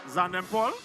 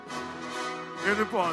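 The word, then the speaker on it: Xaiden: And the winner, oh, we have Zanden Paul. Aiden Paul, so X is silent.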